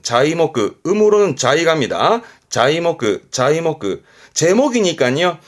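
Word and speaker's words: 材木: 그게 자이모크 자이모크 거꾸로 쓰면 말 그대로 목재네요.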